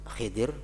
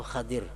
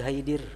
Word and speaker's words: Khidir: aku bertanya kepada Khidir Ada dua macam cara membacanya. Khidri. Khidir atau Khadir. Nabi Khadir atau Nabi Khidir. Jangan Nabi Haidir.